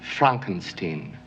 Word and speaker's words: Frankenstein: My name, it's pronounced Frankenstein. Yeah, another good movie.